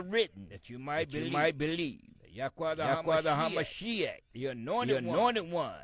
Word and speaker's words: Yahweh: That name is the four letters. What they entitled the Tetragrammaton. Which we pronounce Yahweh.